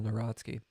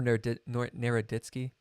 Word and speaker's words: Naroditsky: I've been singing this dude's praises, Daniel Narodsky, or Naroditsky, I think is how it's pronounced.